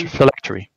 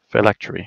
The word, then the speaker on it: phylactery: it's the non-armor blessed and how do you pronounce that that thing correct reflectory phylactery yeah it's it gives this the mark of